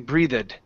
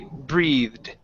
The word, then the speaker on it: breathed: that it doesn't say you're not pronouncing an uh after the th okay because if you do then it sounds like you're saying breathe it okay and when it's supposed to be breathed breathed there that's the